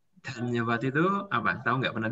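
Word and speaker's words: धन्यवाद: Oke, ini dibacanya Dhanyawad. Dhanyawad itu apa?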